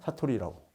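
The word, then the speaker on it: さとり: 이게 그러니까 일본식 발음으로 사토리 세대. 예? 사토리라고.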